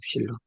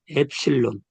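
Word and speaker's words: ε: 근데 요게 발음은 뭐라고 그러냐면 엡실론이라고 그래요. 엡실론. 음, 엡실론. 엡실론 하는데 여기 요 발음이 있어요. 에 발음. 그래서 요거는 에 발음이다 이거예요. 에 발음.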